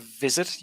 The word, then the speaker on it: visit: Also, not every time, but sometimes you pronounce a V as a W. So instead of visit, you will say wi, like wizard.